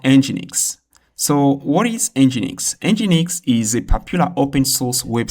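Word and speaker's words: Nginx: Engineix is a popular open-source web server that is used as reverse proxy content cache and load balancer.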